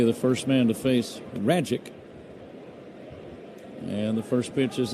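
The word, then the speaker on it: Rajcic: Because the pitcher for the Cardinals last name rhymes with the word magic. I'm going to spell it for you first.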